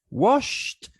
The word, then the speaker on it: washed: is voiceless therefore the suffix idi is pronounced as t i mean washed washed not washed we say washed instead